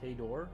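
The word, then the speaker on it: Hejdå: Pronounced hay door. Oh, hey. So, hay door is goodbye, but hey is hi.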